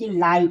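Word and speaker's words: light: Voice है, स्वर है, इसलिए GH क्या हुआ, साइलेंट है। LIGH लाइट, देखिए यहाँ भी आई क्या है, यानी वॉइस है, इसलिए GH यहाँ GH साइलेंट है, यहाँ GH साइलेंट है।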